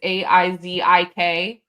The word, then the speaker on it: Isaac: I love how Dr. Wolf's name is spelled Isaac, which is Aizik. Phonetically.